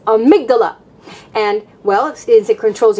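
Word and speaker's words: amygdala: that controls your emotions I call it amigdala because I think in Spanish it's amigdala and I thought of it that way but it's amigdala and well is it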